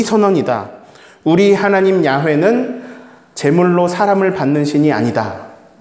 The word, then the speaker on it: 야훼: 자, 야훼는 여호와를 말합니다. 근데 여호와를 조금 더 그냥 원문 그대로 읽으면 야훼라고 읽습니다.